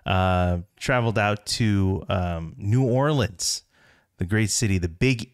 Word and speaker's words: New Orleans: Orleans and let me clarify that it is pronounced New Orleans as opposed to New Orleans or Nolans or any variation as such so